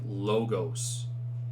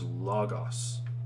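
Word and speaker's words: λόγος: people pronounce this like logos in english we would pronounce it like logos this is logos right it's those short o's so you just want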